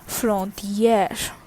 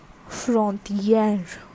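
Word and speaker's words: frontière: an accent graph r e okay so the pronunciation is frontier frontier which means bottle next is which is station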